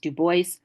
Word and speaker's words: Du Bois: Du Bois, and it is in his telling pronounced Du Bois, and his assessment of